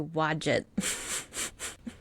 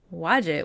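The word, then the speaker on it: Wadjet: We're sacred to wad. That's definitely not how you say it. It's w a d jet t. Um it's going to be wadget to me. Wajette was a protector of the lower Egypt and royal authority.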